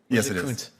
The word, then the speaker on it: Coons: um if I might coons uh is it pronounced the same way mine is coons yes senator my family's name